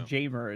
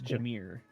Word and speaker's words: Jamir: yeah I don't know it's just pronounced funny instead of jaymer it's Jamir damir Jamir daki okay